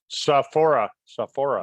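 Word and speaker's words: Sophora: How would you pronounce that? Sohora? Saphora.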